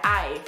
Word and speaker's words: aye: Y quiero mencionar que esta palabra viene del inglés y se pronuncia I.